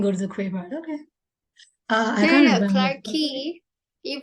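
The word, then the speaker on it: Clarke Quay: well I remember that it's Spanish it's actually clarky it's not turkey it's clerky we didn't go to the creeper okay clarky you pronounce it as Clark but you spell it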